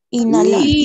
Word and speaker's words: inhalar: In, Inhalar.